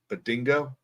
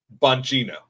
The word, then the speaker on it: Bongino: Badingo? That sounded racist. Bongino.